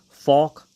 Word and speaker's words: Falk: So in Black Adam, Hawkman was played by Falk Herschel, which Falk rhymes with Hawk.